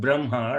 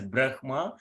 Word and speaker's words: Brahma: Urasya means from the chest region. So if I say Brahma, You see, Brahma. So I can feel it is coming from this region. If I say Brahma, it is coming from here. So it is Brahma. So though it is written as Brahma, so we need to pronounce it as Brahma.